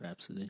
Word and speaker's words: Rhapsody: Rhapsody.